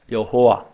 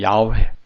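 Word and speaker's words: 야훼: 강하잖아 구약의 하나님의 이름을 여호와 명확한 발음은 아닙니다 많은 지금 야외 라고 합니다 그런데 이 이름이 바로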